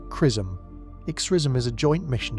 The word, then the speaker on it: XRISM: XISM pronounced Chrism.